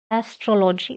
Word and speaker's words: astrology: Second one is Astrology. Stress on troll. Astrology.